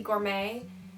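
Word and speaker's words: Gormé: I heard people say Edie Gorm and Edie Gourmet. I was taught when I was little that it's Edie Gorm, so if I mispronounce, I'm sorry.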